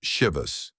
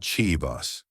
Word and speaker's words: Chivas: Did you know the name Shivus is pronounced Shivus, not Chivas?